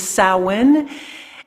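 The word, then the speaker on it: Samhain: seasons summer and winter and winter starts with sowen it's uh spelled Sam Hayne but uh though the pronunciation is salwin and that was considered the beginning of winter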